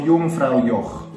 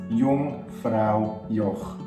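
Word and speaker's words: Jungfraujoch: It's with a J, but a J in Swiss German and German in general is pronounced E, same as I. E, okay? So Jungfrau Joch. Jungfrau Joch.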